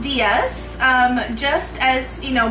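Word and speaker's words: Dias: So, it's pronounced Diaz um just as you know, but it's spelled in the Portuguese version because my my background is Portuguese. So, it's spelled D I A S pronounced Diaz.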